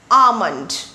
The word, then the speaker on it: almond: This is almond, not almond, not almond. It is almond, almond.